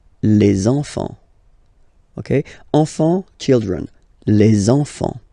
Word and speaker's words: les enfants: Okay, and now we can focus on the liaison here, so you should make the little link, les enfants, les enfants.